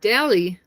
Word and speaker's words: Delhi: The H is silent. Delhi.